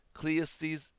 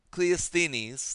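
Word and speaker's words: Cleisthenes: Uh Cleanes, I know I know how to say this name. I'm sorry. Cleestinis. Thank you. Boy, you got have to really think sometimes with some of these Greek names. His name is Cleestinis and uh he or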